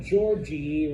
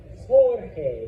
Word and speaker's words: Jorge: So just for you that is not Georgie or Georgie or Jorge. Yeah. You pronounce it like an H.